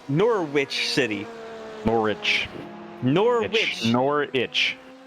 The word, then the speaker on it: Norwich: goes kingsbury yes norwich city more rich nor nor itch nor witch just in time for halloween looks like